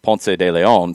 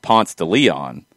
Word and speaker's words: Ponce de Leon: that starts with ponce well in atlanta if you call it ponce de leon people are going to be like where are you talking about what so you have to go down that road here but that's how it's pronounced in atlanta if i went to spain and started talking about ponce de leon i'd be laughed out of the room yeah so that's where